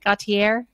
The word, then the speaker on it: Gauthier: uh Kimberly Gauthier and did I say her name right Gautier yeah Gautier she's got that fancy French last name um who uh has